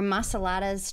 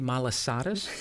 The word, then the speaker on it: malasadas: Shrimp trucks or Masaladas trucks? That would be malasadas. This is just funny to listen to us pronounce these In words.